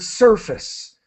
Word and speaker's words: surface: And just for everyone, the advice that I've got is for pronouncing the word surface. Surface. So try not to say face. Try to say surface.